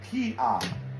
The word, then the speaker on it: Kia: This circle, right here it made the ng sound, but right here it's silent, because whenever it holds the first position, it's silent. So we don't even pronounce that. We just go straight to the vowel, which is right here, ah, Kia, Kia.